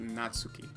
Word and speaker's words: Natsuki: bring in a new member that name is pronounced natsuki and natsuki made cupcakes in everything don't make